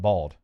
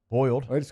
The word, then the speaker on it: boiled: I've heard some North Louisiana people call it bald. Boiled. If I'm really thinking, if I'm like around boiled, but if I'm just talking fast, boiled shrimp. Boiled shrimp. That's the right way to say it.